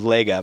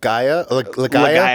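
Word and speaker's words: Legaia: but it's Legend of I always call The Legend of Lega but it's l-e-g-a-i-a oh Legend of gaiah yeah yeah did you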